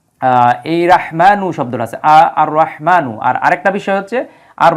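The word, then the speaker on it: الرحمن: আলিফ লাম বসানোর কারণে এই যে র এর পূর্বে আলিফ লাম আসার কারণে কিন্তু আলিফ লামের কোন উচ্চারণ হবে না উল্টো এই হরফের উপরে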